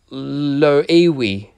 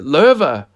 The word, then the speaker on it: Loewe: highly reputable German brand, Loewe. Idiot! Es wird Loewe ausgesprochen! Alright, sorry, Loewe.